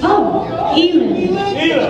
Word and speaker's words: Eilen: Eilen. Eilen. It rhymes with feeling. Or if you catch me stealing.